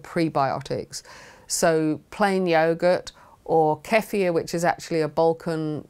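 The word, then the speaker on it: kefir: and those good prebiotics so plain yogurt or kefia which is actually a Bulan drink that has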